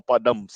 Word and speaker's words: Padamsee: Because many people do the Pad first, but it's more, Padamsee. yeah, it's more Padamsee.